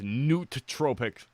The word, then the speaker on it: nootropic: Nootropic. Oh, it's spelled that way? Okay. Noot. So you guys can't see, but yeah, the double O's. That throws me off. I think it'd be N-E-U-T. Nope, it's nootropic.